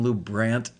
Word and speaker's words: LuBrant: or the midwestern loubrant as in ant great good to know